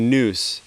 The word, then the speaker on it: NOUS: idea originally um the noose in as how it would be pronounced in ancient greek i simultaneously the way